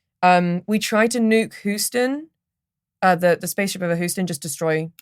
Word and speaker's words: Houston: As in the name Hugh as in Hugh Grant. Houston.